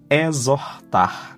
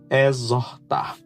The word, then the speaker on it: exhortar: And exhortar, that's urge, is to admonish. Urge, exhortar. Look the R here, gives sounds to or and ah. To urge, exhortar.